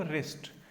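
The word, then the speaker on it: wrist: हैं राइट कहते हैं ना यहां पर डब्लू साइलेंट है ठीक है तो रो तो क्या बोले मैं इसको रिस्ट तो यह वेस्ट होता है पाल में नहीं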